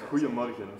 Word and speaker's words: Goeiemorgen: Because I'm saying Guten Morgen, but it's not. It's kind of good, so it's Goeiemorgen. Goeiemorgen. Yeah, yeah. Goeiemorgen. Pretty close, yeah.